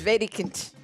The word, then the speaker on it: Wedekind: It's Wedekind. Wedekind. The D is like a T almost. Right. But it's anglicized to Wedekind.